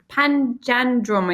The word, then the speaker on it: Panjandrum: But it's Panjandrum, I think is how you pronounce it.